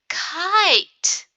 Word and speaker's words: kite: Kit has a short I sound. I. What's going to happen if I add the magic E? Now it's kite. Kite. The I has a long sound.